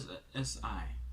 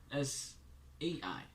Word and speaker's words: SAI: what I like about SI. All right, wait, SIA. Wait, no, SAI. Jeez, I've been saying it wrong the whole time.